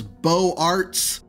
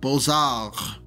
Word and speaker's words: Beaux-Arts: I said it was Beaux-Arts. Apparently, even in the U.S., this French phrase is pronounced as it is in France, or more correctly, Beaux-Arts.